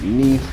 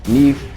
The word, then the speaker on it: Nief: Plus exclusive mech, and I'm going to pronounce it Nief because it's spelled like thief, and so it probably rhymes.